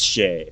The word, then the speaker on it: Shea: down to Ben's house first pronunciation was right it is Shea okay okay I was right I thought it might be but then Shia also sounded right names are names are